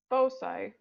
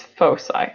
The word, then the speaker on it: foci: distances for any two distinct fixed points or foci are constant last time I had a teach